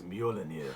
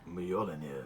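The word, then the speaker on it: Mjölnir: So, how do you pronounce the name of Thor's hammer? I think it's Mjolnir.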